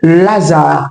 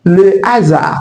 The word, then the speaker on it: hasard: Un autre mot en français qui porte un h aspiré c'est le mot hasard. Hasard. On ne dira pas laar. Évitez de placer un article et l'idée ou elle apostrophe devant ce mot pour dire Lazar. C'est faux en français. Puisque le H est aspiré, on dira le hasard. Le hasard. Donc il faut dire le hasard. Dites désormais le hasard. Ne dites pas l'azar.